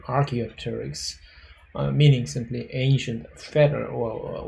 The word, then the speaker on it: Archaeopteryx: is that uh archaeopteryx in actually specific latin way of a pronunciation is around rk archaeol terrex but the english influence usually people pronounce this is something archaeopteryx meaning simply ancient feather